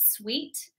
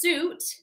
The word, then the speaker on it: suit: And I know that a common mistake for this is people pronounce it sweet. So it's actually pronounced suit.